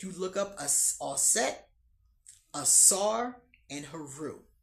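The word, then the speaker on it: Asar: Assaar that's how you say it Assar Haru.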